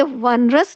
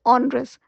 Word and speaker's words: onerous: ऑनरस, अब इसे वनरस नहीं प्रोनाउंस कीजिएगा, ONE 1 होता है, पर ONEROUS, ऑनरस, कष्टदायक।